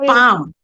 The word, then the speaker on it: palm: Okay, date palm. L is silent there, beta. Okay. Date palm.